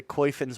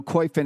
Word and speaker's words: Koyfin: So I wanted to start off first, just go to Koifin's website.